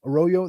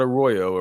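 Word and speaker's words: Arroyo: Football purposes has to be Elijah roro roro aoo aoo the tight end from um the the Miami um hurricanes he goes by it's spelled like a Royo like what he say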